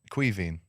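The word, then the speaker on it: Caoimhín: Quiveen.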